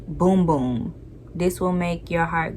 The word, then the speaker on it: Bum Bum: processed chlorine free and chemically compostable okay panel pronounced boom boom this will make your heart go boom boom